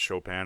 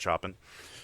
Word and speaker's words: Chopin: Which I learned today that it's pronounced Chopin and not Chopin.